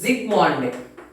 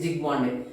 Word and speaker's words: Zsigmondy: That gold number was introduced by scientist Zsigmondy. Here S silent letter. So the protective action or protecting power of different leophilic soils is expressed in terms of gold number, which is introduced by scientist Zsigmondy.